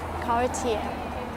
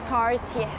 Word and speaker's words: Cartier: So this brand name is very popular for watches called Cartier. Cartier. The brand is not pronounced Cartier.